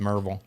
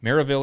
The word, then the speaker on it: Maryville: manager this was in mervel marvel no it's not pronounced marvel maryville indiana shout out to